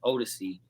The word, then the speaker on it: Odyssey: That's my real name, not, but my real name is Odyssey. It's pronounced like Jodeci.